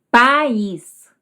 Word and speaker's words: País: País, coco, baba, carne, bebê, maio. Vejam que todas as tônicas ficaram nas sílabas que tinham o acento, seja ele o circunflexo, seja o agudo, certo?